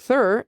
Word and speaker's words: Thur: Also Thur rhymes with her.